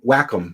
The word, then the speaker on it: Wacom: be fine why can't welcome Wacom I think it's pronounced Wacom Cintiq yeah it's like